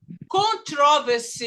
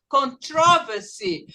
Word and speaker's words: controversy: Em alguns lugares lá dos gringos, eles falam controversy. Eu não falo assim, eu falo controversy. Então, dependendo da região, eles falam diferente, tá?